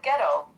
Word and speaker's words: ghetto: It actually comes from Getto, Jetto, and it's an Italian word. And it's when the people that lived in this one area of Venice, which is the foundry where they built ships, couldn't pronounce the G, the J, so they said ghetto.